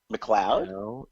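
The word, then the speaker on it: McLeod: mcle e o d McLoud E Yeah M yeah McLoud every time I've ever seen that name written out like that it's pronounced McLoud but her name and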